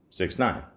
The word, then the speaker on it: 6ix9ine: known professionally as 69 now it's spelled with a six iix 9 i n e all one word it's pronounced 69 now I'm not going